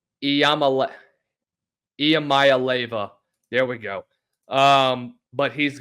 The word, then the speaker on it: Iamaleava: Nico Iamaleava, I hope I said that right. I know you guys have been giving me crap in the comments for how I say his name. Iamaleava.